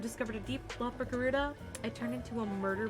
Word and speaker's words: Garuda: Is that how her name's pronounced? Garuda? Yeah, it's Garuda. I love that.